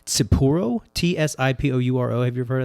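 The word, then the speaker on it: Tsipouro: first distillery in 1856 from a beverage called Tsipuro, T-S-I-P-O-U-R-O. Have you ever heard of that? Yes. It's like You're pronouncing that correctly.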